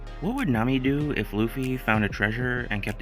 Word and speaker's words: Luffy: her entire Kingdom and she can't even pronounce his name right shake my head Lucy my name is Luffy Lucy could Kuma push